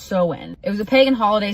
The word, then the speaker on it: Samhain: Halloween before it was Halloween was called Samhain, pronounced Samhain.